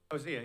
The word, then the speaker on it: Hosea: So these same people who are so rageful, Osee would be an outstanding example. I think you pronounced it a little different. How do you say Osee over there? Hosea? Hosea, yeah.